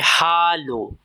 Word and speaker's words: Hallo: इसकी प्रोनाउंसिएशन है हालो। हालो H silent नहीं होता। क्लियर बोलना है। हालो हेलो जैसा नहीं।